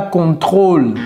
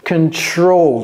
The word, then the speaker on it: control: cela c'est out et ne dites pas contrôle ce n'est pas dans la gorge control c'est ici ok contr incontrôlable ok je